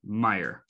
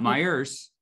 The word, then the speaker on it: Meijer: clarify for the out-of-towners it is it is meijer it's not my ears it's correct a lot of people from out of the state who don't understand what it is they pronounce it myers it is it's here i see that all